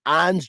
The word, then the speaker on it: Ons: three another great name ons jaber i just and ons is spelled like just like it sounds o-n-s um but it was